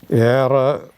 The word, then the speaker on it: Ehre: Or Ehre. Ehre, you don't pronounce it.